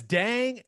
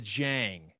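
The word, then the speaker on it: Dieng: i think it's spelled d-i-e-n-g usman i've heard a lot of jang like it somehow is a j is that what we're going with because dang or is it are we going with the jang i think it's jang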